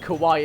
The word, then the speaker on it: Kwi: really weird 10 seconds saying that like hawaii i i feel like kawhi is the way forward okay well these headholes